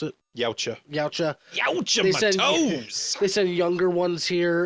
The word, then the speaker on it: Yautja: How'd you pronounce it? Yautja.